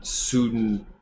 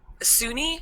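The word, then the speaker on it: Sune: What is what sort of powers does like Soon give to clerics? And sorry, it's Suni. I've been pronouncing it wrong, Okay.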